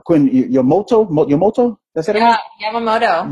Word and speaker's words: Yamamoto: Yeah, Yamamoto. Yamamoto.